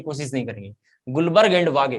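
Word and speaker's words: Guldberg: ऐसे तो नाम है गुल्डबर्ग, ऐसे नाम है, लेकिन डी साइलेंट रखना है, डी साइलेंट रखना है। तो नाम है एक साइंटिस्ट का गुलबर्ग और दूसरे साइंटिस्ट का नाम है वागे।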